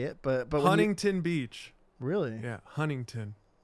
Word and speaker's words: Huntington Beach: pronounce I want to give away how I say it, but when Huntington Beach. really, Yeah, Huntington. you drop the T.